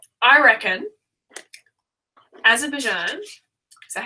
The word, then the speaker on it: Azerbaijan: I reckon Azerbaijan, is that how you say it? Yeah. Azerbaijan, yeah.